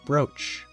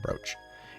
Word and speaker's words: brooch: gratitude please take it shizuku's broach or brooch if you want to pronounce it but I think it's always pronounced brooch it's beautiful wait is